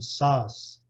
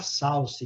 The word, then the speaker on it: sauce: Sauce. Nós temos a tendência de falar salsa, né? Por causa da salsa, que não tem nada a ver, né?